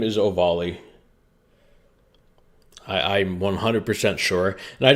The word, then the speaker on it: Ovalle: First of all, first thing I got to say about this case is that this guy's name is pronounced Ovalle.